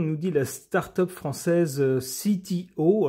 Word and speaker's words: CTO: dit la start-up française CTO alors je le prononce à l'américaine parce que visiblement le nom est un nom anglais constellation technologies and operations